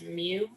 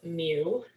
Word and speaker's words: mu: this is pronounced as mu just so you know kind of a fun looking u but it's pronounced as mu um and this is